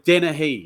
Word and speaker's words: Dennehy: it's Dennehy. It's pronounced Dennehy.